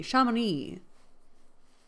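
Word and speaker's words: Chamonix: This is pronounced shami at the end is silent. The X on the end is silent.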